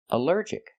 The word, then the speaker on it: allergic: Allergic is 3 syllables. Allergic. The stress is on the second syllable. Allergic. Allergic. Here the ALL is not pronounced all, but pronounced like in cup and up, because it's not stressed.